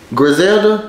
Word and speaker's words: Griselda: Griselda, that's the name of it? That's how you pronounce it?